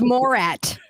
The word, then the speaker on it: Morat: That guy, I've heard him, but I never know how to pronounce his name. Is Morat or Morat? Then we see it. Morat. Oh, it's Morat.